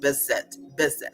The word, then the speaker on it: Beset: And in truth, her name really is pronounced Beset, with the hard S or the Z sound.